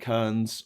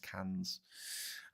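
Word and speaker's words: Cairns: Invalok is in inver is that how they pronounce it? It's like Karns up in the south in the north. Sorry. In the in the very northeast of the country is it's pronounced cans.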